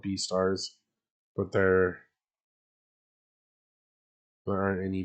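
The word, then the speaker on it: Beastars: It's pronounced B stars, but it's but they're combining beast and stars, like I said.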